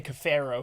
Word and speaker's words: Cafaro: and he calls me Cafaro. Yeah, so. I'm going to ask you 3 more times. I just have to read the show pronouncing it. It's just the Delco pronunciation.